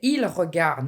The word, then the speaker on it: ils regardent: When you say ils regardent, meaning they, plural, the ENT is silent.